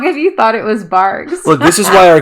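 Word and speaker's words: Barq's: I see it yeah it's it's barks barks barks R like a dog it's not bars bark bark oh my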